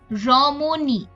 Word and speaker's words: রমণী: যেমন রমণী। এখানে আমরা দেখছি মাঝখানের অটা কিন্তু আরেকটা অধ্বনির পরে বসেছে এবং ই ধ্বনির পূর্বে বসেছে, কাজে উচ্চারণটা ও এর মতো হচ্ছে।